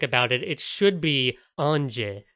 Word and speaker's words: Ange: Okay, if we want to get really specific about it, it should be Ange, which is the French pronunciation of the word angel.